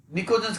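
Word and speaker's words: pnictogens: जैसे group number 15 है, निकोजेंस कहते हैं इनको, निकोजेंस, पी साइलेंट है।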